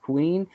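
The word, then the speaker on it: Quen: is Isaiah Cassidy and Mark Queen is how you pronounce that Queen um tag-team match to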